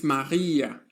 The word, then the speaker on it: Maria: The letter R is pronounced in two different ways in German. It can be a guttal R. That is guttural means that the sound is made with the throat. Maria, Maria or it can be a soft R as in Maria.